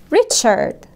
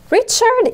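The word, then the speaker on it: Richard: وننطقها باللغه الانجليزيه ريتشاردنس ريتشارد ده اسم شخص ريتشارد حرف الاي بنسمعه بصوت ايه ريتشارد ريتشارد الار اتفقنا انها تنطق في اللغه الانجليزيه ريتشارد بزنس مان يعني ريتشارد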